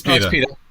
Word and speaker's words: PETA: However, there was no PETA, or how do you say that? PETA? Horrible. It's PETA.